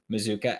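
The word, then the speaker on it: Mazzccua: for a few minutes to talk about Micah mizuka which is how it's pronounced it's spelled mascua but it's pronounced mizuka and I think that he is somewhat overlooked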